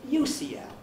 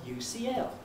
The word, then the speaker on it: UCL: the beats is the stronger one is it ucl or ucl it's the second ucl the second one is